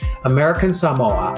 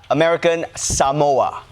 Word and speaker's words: American Samoa: he had one thing going for him: correct pronunciation. Talofa lava. I'm Jason Palmer. American Samoa, I'm asking for your vote in the Democratic caucus on March 5th. Yeah, American Samoa.